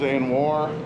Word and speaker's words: Anuar: I already talked to him about on the vlog, but this is Anuar.